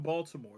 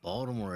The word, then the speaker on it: Baltimore: Although like you get some house in Baltimore.